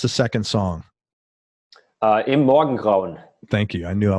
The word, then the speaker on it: Im Morgengrauen: Pronounce the second song. Im Morgengrauen.